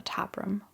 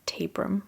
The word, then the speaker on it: Tabram: The 7th of August, 1888 was a Tuesday, and it was the last day in the life of Martha Tabram or Tabram. I've heard both pronunciations.